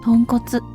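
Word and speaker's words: 豚骨: 豚骨ラーメンの豚骨とは漢字で豚、骨と書いて豚骨と読みます。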